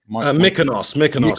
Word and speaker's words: Mykonos: Mykonos, yeah.